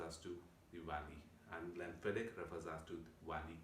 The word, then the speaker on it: Glenfiddich: Glenfiddich itself, a lot of people pronounce it in a different manner, but the correct way of pronouncing it is Glenfiddich with a Fiddick, right?